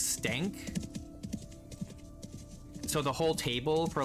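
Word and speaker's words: Stenk: pronouncing his name correctly, because it's S-T-E-N-K, but people were lazy and they would say Stank, which is not the same as Stank. And so he would like correct them, it's Stank.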